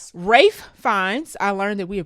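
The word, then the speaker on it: Ralph Fiennes: Rafe fines. I learned that we are pronouncing his name wrong. He goes by Rafe Fines, not Ralph Fines.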